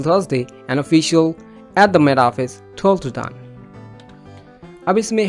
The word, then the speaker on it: Met Office: मैंने इसलिए बोला क्योंकि T के शुरू में भी E है और आखिर में O है, दोनों में syllable है, क्या है? वॉवल है। तो ऐसा T जो दोनों वॉवल के बिटवीन में हो, चाहे स्पेस भी हो, उसको D में कन्वर्ट करते हैं, जैसे Met Office।